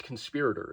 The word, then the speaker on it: Conspirator: where they introduce this the guy calls it the conspirator it's conspirator it's spelled conspirator look up how to